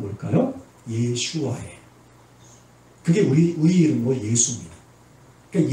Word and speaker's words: 예슈아: 그러면 헬라식 발음은 뭘까요? 예슈아예요.